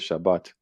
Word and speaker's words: Shabbat: to na number H7673 no pronunciation is Shabbat.